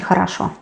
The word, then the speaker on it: хорошо: Then we can say хорошо. Good. Хорошо. We pronounce а-а because they are not stressed. That is why not о-о, but а-а.